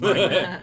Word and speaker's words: Ragrump: just Ragrump. It's just a romp. It's got a RT at the end. Ragrump. Yeah, Ragrump. Okay, Ragrump. So, The yeah. B is silent.